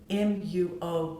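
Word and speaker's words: μύω: thought to derive from the ancient greek word m-u-o which is pronounced mu which means to conceal or to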